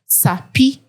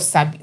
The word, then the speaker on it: Sabi: Let's say, for example, I'm coming here for a job interview and I'm saying SAPI podcast, SAPI instead of SABI.